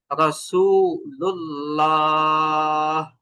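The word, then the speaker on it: رسول الله: যখন আল্লাহ শব্দের লামের আগে জবর অথবা পেশ থাকবে তখন এই লামটাকে পুর বা মোটা করে পড়তে হবে। যেমন রাসূলুল্লাহ, রাসূলুল্লাহ।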